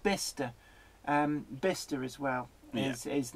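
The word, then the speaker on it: Bicester: a million years you would guess the correct pronunciation. I like Bister.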